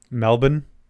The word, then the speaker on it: Melbourne: From Melba Melbourne.